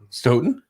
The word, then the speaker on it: Stoughton: was a bordering town stoughton rhymes with broden oh yeah look at